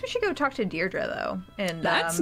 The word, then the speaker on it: Deirdre: Deirdre. I know it's got that tricky second syllable, but I figured it out by age two.